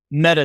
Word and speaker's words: Meadow: of Farmhouse Vineyards in Meadow Texas and as they pronounce there meta Texas right Katie Jane yes meta hi how you doing